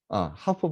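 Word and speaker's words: half: 하프 바디 할 때 요 L은 묵음입니다.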